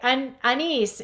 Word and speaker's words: Anis: Okay, Anis, am I pronouncing your name right?